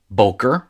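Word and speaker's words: בֹּקֶר: syllable would be and the accent is moved forward boker which means morning and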